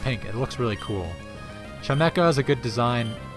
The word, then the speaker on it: Chimecho: A lot of people I've heard say Chimecho, which just baffles me, because like, it's a chime. It's clearly like a wind chime, right? And like echo is a quality of sound, so like, it would